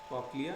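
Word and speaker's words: cochlea: जो inner ear है उसमें जो है एक तो कॉक्लिया आता है, इसको लिखते कॉचलिया है लेकिन उच्चारण इसका, प्रोनाउंसिएशन इसका कॉक्लिया है।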